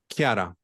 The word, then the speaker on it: Chiara: Chiara. Yeah. It's like a hard, it's like a K. It's like a CH K.